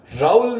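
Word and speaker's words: Raoult: तो इनको समझाने के लिए फ्रांसीसी वैज्ञानिक राउल ने, इसको बहुत सी बुक्स में राउल्ट लिखा हुआ है, इंग्लिश में स्पेलिंग राउल्ट है, प्रोनाउंस राउल करते हैं, राउल के नियम से समझाया गया है।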